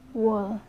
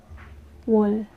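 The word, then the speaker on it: 월: Wall. Ito ay wall. Or ganito siya bigkasin. Wall.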